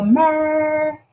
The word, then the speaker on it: mer: And the first eye, the mer, that's how you say it in Kemetic terms.